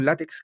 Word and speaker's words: LaTeX: mi apunte en en látex o latex no sé cómo Cómo se pronuncia bien pero acá le decimos látex que este este este